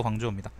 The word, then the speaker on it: 광저우: 우돗을 벗고 몸을 드러내 맞이한 거는요, 예, 광주가 광저우일 거예요. 근데 그때 광주가 지금 광주하고 똑같은 건지는 모르겠다. 발음은 광주가 광저우입니다.